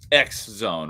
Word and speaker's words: XZone: So, yeah, I was thinking uh because actually not spelled cross zone, it's XZone, right? Yeah. Is that how it's spelled?